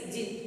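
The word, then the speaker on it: djinn: The pronunciation of this word is jinn. D is silent.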